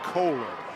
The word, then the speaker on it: Kohler: Talked to that young man's parents before the game and they said it's pronounced Coler and so Coler gets his moment there with causing that fumble.